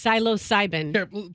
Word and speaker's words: psilocybin: I say you said something different but it's psilocybin play your computer Roxanne what did I say